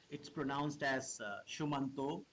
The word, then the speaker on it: Shumanto: It's pronounced as Shumanto. It's a Sanskrit word.